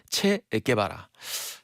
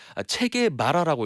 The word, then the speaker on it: 체게바라: 심지어 어떤 사람은 이 체게바라를 체게마라라고 읽는 사람도 있었어요.